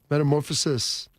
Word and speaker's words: metamorphosis: Metamorphosis. Like you're cutting off the last IS. Meta, M-E-T-A, more, M-O-R, P-H-O-S, phosis. Metamorphosis.